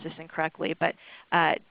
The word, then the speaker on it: Tysabri: This person's father was taking, and I'm sorry if I pronounce this incorrectly, but Tysabri, Tysabri.